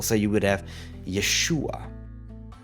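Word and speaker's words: יֵשׁוּעַ: And another rule, the accent always falls on the preceding syllable. So you would have YESHU'A, RU'ACH, NU'ACH, ha-ma-SHI-ach.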